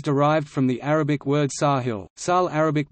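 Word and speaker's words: ساحل: the name is derived from the Arabic word Sahil Sal Arabic pronunciation sa hill meaning coast or sure in a figurative sense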